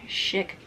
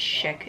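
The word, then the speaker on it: Schick: just a normal everyday chic um gillette chic gillette is that i know it's gillette but it's shick is that how i'm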